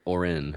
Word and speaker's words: Auryn: It's spelled Auryn, so there you go. It's like aura, but Orin.